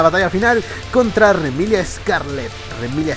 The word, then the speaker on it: Remilia: final contra remilia Scarlet remilia su carita bueno es que así se pronuncia en japonés y esta vez estamos